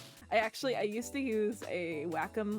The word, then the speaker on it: Wacom: Wacom is the correct way to say it.